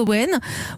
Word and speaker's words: Owen: Owen, ça s'écrit O-W-E-N.